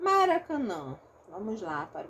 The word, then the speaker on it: Maracanã: vai acontecer aqui e no meu caso a minha pronúncia Maracanã Então eu tenho a nasalização dos dois últimos as Tem gente que fala Maracanã se a pessoa fala Maracanã não vai aparecer essa nasalização aqui tá aí depende aí